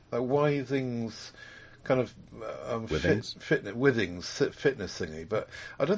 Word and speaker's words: Withings: the wthings thing isn't it yes it is Withings they like to pronounce it yes okay her headquarters in the